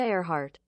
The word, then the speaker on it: Earhart: We can listen to the pronunciation. Amelia Earhart.